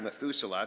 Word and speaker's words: Methuselah: back to meth metha I'm mispronouncing that methusa back to Methuselah George Bernard Shaw in